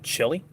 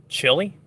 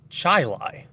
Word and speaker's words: Chili: they look at that name and they say chili you guys have a town called chili and i go no it's pronounced chai lai and i get i get looked at like